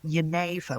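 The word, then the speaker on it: genever: The national drink of his part of the world was a drink called Yaneva, which is spelled G E Ver, which is where the word gin comes from.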